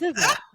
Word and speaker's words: SZA: It's SZA.